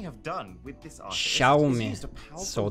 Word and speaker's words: Xiaomi: What Xiaomi have done with this artist Xiaomi. is used a powerful So that's how you laser to pronounce basically it.